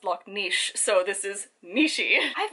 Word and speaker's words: Loch Ness: aprepo also fun fact it's not actually loch ness it's actually pronounced lok niche so this is mishi